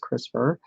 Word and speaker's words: CRISPR: also raises ethical concerns in popular usage CRISPR pronounced CRISPR is shorthand for CR is PR - C